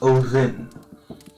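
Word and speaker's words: Óðinn: Odin, like you would say Odin, but there's no D. It's an eth or a the, so it's Odin, and the O is actually with a comma, because our uncommened O's, these circles are pronounced as O, just O.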